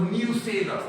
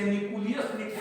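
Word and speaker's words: nucellus: तीसरा चलिए बच्चों, न्यूसेलस। तीसरा क्या है, यहां इसका स्पेलिंग को गौर करो, न्यूसेलस। पूर्णिया के एक विख्यात बायोलॉजी के टीचर ने इसे निकुलियस कहना शुरू किया, नाम पूछना, ठीक है।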